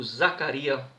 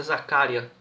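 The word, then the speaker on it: Zakaria: E o Zaccaria anulou, aliás é Zaccaria que se pronuncia.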